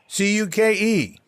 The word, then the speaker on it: Cuke: Is it Cuke? Cuke. Ke, like cuke, like cucumber.